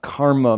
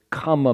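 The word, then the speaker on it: kāma: realm of comma which is not is not karma mispronounced it's comma meaning desire like kamasutra that one where it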